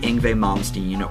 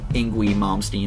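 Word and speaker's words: Yngwie Malmsteen: And this would be Ingve Momstein or Ingui Momstein as I sometimes pronounce it, which is kind of a force of habit because that's how I used to pronounce it when I first heard who he was. I'm still trying to get used to the actual pronunciation.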